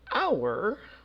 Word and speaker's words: hour: couple of exceptions now hour we would say an hour even though hour starts with an H which is a consonant but the H is silent so it's really not